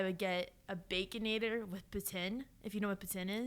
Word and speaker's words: poutine: Poutine, because that's how the French Canadians pronounce it.